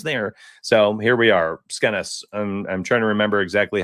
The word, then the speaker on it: Skenes: I used to always call him Skeens. And then people are like, oh, donuts, it's not too easy there. So here we are. Skenes.